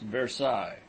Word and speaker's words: Versailles: miles by rail on the road to versailles pronounced versailles song clue belongs to the canton of severus